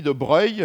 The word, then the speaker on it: de Broglie: tout seul, puisque c'est quelqu'un qui est Louis de Broglie, mais ça s'écrit de Broglie, et qui a eu le